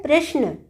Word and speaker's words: प्रश्न: प्रकार लिखा जाना चाहिए, श को आधा ही लिखना है हमने, और उच्चारण इस तरह है प्रश्न।